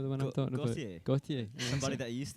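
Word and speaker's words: Gotye: Goit? How's that how you say it? That music video? You know the one I'm talking about? Gautier.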